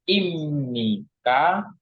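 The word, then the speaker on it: 입니까: Ini huruf BB ketemu dengan Nin maka dia dibacanya m b ketemu Nin maka dibacanya M maka ini dibacanya imnika imni walaupun di sini hurufnya B tapi Anggap saja kita sebagai huruf M Jadi dibacanya imnika tulisannya ibnika cara bacanya saja yang berbeda yaitu imik atau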